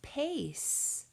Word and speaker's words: pace: Our next word is pace. P-A-C. Pace. I hear A saying A, and I can also spy with my little eye a silent E right on the end.